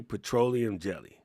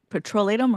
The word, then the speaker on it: petrolatum: We say petroleum jelly. It's actually Petrolatum, right? Or something like that. Petrolatum. Yeah. Petrolatum. That's the actual. We've been saying it the hard way.